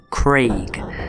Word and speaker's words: Craig: not word, the name, Craig. C-R-A-I-G. Craig. Now you notice A and I make an A sound, not an E sound. It is not bloody Craig.